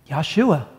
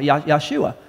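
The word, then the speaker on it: Yeshua: And he said, Yahshua. Jesus. That's how they say it. It sounds like Joshua. Yahshua.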